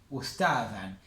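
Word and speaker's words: أستاذًا: Como pasa a ser objeto directo, le ponemos fathatein, ustadan. Y si se acuerdan lo que les dije, la particularidad del fathatein es que el fathatein siempre va acompañado de un alif que no se pronuncia.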